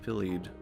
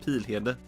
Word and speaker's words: Pilhede: In Swedish, it's pronounced Pilled. Or no, it's not. It's pronounced Pilhede. Pilhede. But it doesn't really work in English. To be like Pilhidi. I guess you could just say Pilhidi.